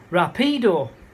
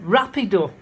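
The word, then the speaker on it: rápido: word quick in it, which I pronounced as rapido. No idea what I was talking about. And how and then after about 10 seconds, oh, you mean rapido. So the push is in the wrong place.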